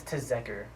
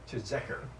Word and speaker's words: Tzeker: It's Tzeker. Tzeker. Yes. That's cool. What is that? It's Hungarian.